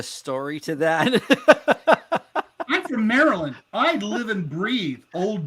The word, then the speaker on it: Maryland: well first of all learn to pronounce maryland right it's merlin merlin merlin you know walmart i